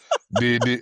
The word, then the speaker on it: Didi: And you say your nephew, Didi, I don't want to pronounce it like the rapper. Yeah. Didi. Then just say Didi.